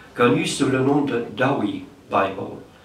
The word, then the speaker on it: Douay: sous le nom de Douay Bible. Bon, ça s'écrit D-O-U-A-Y, mais c'est le nom de la ville de Douai, dans le nord de la France.